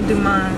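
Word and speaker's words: Café Du Monde: we are headed to Cafe D how you pronounce it again Cafe Cafe Duman Cafe Cafe Duman what that's how you say it Cafe D Cafe Duma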